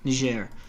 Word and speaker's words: Niger: It's Nger. Uh otherwise it's careful careful how you pronounce it. You okay? Oh never mind. I don't even know. I don't know what Nijair is. I thought that was just your accent. My bad. I have no idea then. Okay, tell me. Yeah. Uh, you pronounce it like a like a French word otherwise it sounds very bad.